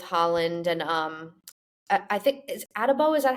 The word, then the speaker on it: Adebo: I like what we did in the secondary with Holland and I think is Adebo. Is that how you pronounce it, guys? Adebo.